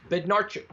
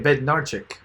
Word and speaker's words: Bednarzik: Bednarchik. Okay, Bednarchik.